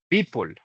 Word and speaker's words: people: Las palabras que terminan en L se pronuncian como si terminaran en OL. Listo. Apple, maple, people.